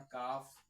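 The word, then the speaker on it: calf: है तो उसमें आपका एल जो है वो साइलेंट होगा। ठीक है? जैसे एग्जांपल आ गया हमारा काफ हाफ।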